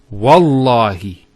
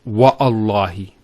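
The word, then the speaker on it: والله: it, and we say, Wallahi. This waw here is actually known as waw al-qasm, the waw of swearing an oath. So when we put this waw, it's Wallahi, not Wa'allahi. So by Allah, I swear by Allah.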